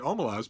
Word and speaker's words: Omelas: And Ursula Le Guin, bless her heart, said, "Well, I pronounce it Omelas, but it's a story.